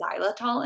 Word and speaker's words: xylitol: Sugar free gum, I'm all about gum that has xylitol in it. It's spelled with an X. Xylitol.